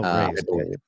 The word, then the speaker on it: Reye: I believe it's Reyes. Oh, Ray's. Yeah, Ray's disease.